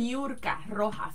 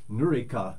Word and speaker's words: Niurka: How do you say it? Niurka Rojas. Niurka? Yeah. I was going to say like Nurika, but that would totally mess up all the It syllables.